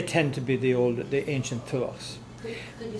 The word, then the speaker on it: Tuath: Oh, Tuath. Well, it's, I mean, now in Ireland it's T, yeah. big Th, Tuath. There's no short T in Irish.